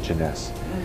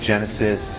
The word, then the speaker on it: Jeunesse: this business just to say the word Jeunesse some people say Genesis you know they can't pronounce it but even after six